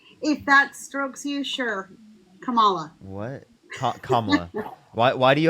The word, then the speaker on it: Kamala: Kamala. And Kamala Walla.